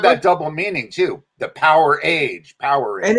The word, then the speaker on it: Powerage: What's the correct pronunciation? I always call it Powerage. I think it is Powerage. Yeah, most people call it Powerage. I think the band has called it Powerage when they talk about it.